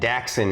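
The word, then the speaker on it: Daxxen: all right the first one is Matthias Jackson it's spelled m-a-t-h-i-a-s like Matthias uh and Jackson is d-a-x-x-e-n Matthias Jackson we know he is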